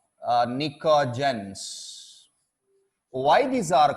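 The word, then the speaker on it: pnictogens: nitrogen family also called Niko gence P is silent p ni co ji Heon Niko gence so are this 15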